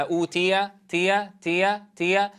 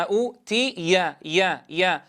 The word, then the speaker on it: أوتي: إذن لا يذهبها الكسر الذي قبلها أوتي تي، وإنما أوتي يا كما نقرأها في أثناء نطقها مفردة، لا بد أن تكون بذات الصوت عند نطقها في الكلمة.